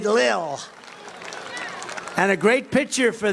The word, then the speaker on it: Lil: pump Lil Lil I said how do you pronounce that they said Lil and a great picture for the New York